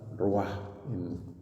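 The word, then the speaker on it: רוח: Ese verbo soplar es muy importante porque es la misma palabra, ruach, en hebreo significa espíritu, soplo. Incluso pues, al pronunciarla se exhala, ¿no? Ruach.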